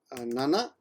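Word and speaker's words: なな: Note 7 can be pronounced as nana. Whoa, come on. Nana. There's also kanjis for these, but that's the kanji. Where's the hiragana? Oh, there we go. Nana, like your grandma, or shichi.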